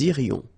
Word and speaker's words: irions: Final S not pronounced. Nous irions.